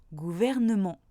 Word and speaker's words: gouvernement: Premier, le E se prononce après une consonne, comme dans gouvernement. Deuxième cas de figure, le